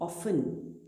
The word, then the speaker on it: often: OFTEN, ऑफन, ऑफन।